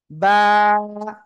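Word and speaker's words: ب: আমরা এই অক্ষরটা পড়বো বা সবাই জোরে বলেন বা ওকে বা অক্ষরটা কোন জায়গা থেকে উচ্চারণ হয় দেখেন দেখেন দেখেন দেখেন দেখেন সবাই সবাই সবাই বা দুই ঠোঁটের ভিজা অংশ থেকে ঠিক আছে বা সবাই জোরে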